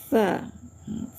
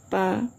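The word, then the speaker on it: ف: Kemudian gin gain ya gho ghoalkan ya kemudian fa jangan pa bahasa Indonesia fa bahasa Arab nah kemudian qof qof tebal qo Hm.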